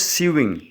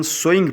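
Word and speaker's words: sewing: हम लोग इसको, कुछ लोग इसको गलती से सीविंग पढ़ते हैं, सीना. इंग्लिश में इसको हम सोइंग पढ़ते हैं, सो सीना. ये सो उगाना भी होता है, उसकी स्पेलिंग SOW है, लेकिन ये जो स्पेलिंग है SEW, उसको भी सो पढ़ते हैं, लेकिन ये सीने के मानों में आएगा.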